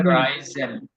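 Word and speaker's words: reisen: এটার উচ্চারণ হবে রাইজেন। Reason. আই, হ্যাঁ, ই Reason. আই প্রথম ক্লাসে বলছিলাম। Right, yes. ই এবং আই যদি একসাথে আসে এটার উচ্চারণ হবে আই।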